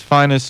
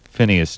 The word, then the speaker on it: Phineas: it was great and went with a different pronunciation of his first name than his father so it's finest newborn the father a drummer and finest newborn Jr the son until roughly 1957 and then it's Phineas newborn Jr from that point